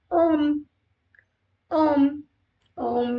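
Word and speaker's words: homme: French we say Ash because in French H is always mute this is Ash om om om me means man we never pronounce h in French we'll see other word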